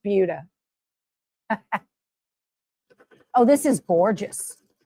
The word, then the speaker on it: Buda: It looks like Buda if you're not from around here, but it's pronounced Buda.